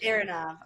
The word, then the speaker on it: Aronov: Either one will work. Aronov is probably more closer. Aronov.